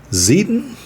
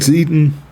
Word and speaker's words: Zieten: I like Zeiten. It's maybe also pronounced Zeiten, but I'm going with Zieten. I before E except after C. But that doesn't give us any tips on how to pronounce it.